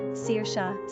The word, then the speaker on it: Saoirse: Currently on Ireland's top 50 list are names like Kiva, pronounced Keva, Saoirse, Saoirse, Sierra, Kayere, Niamh, Nevi, Roisin, Roisin, Aisling, Ashling, and Clodagh, Clodagh.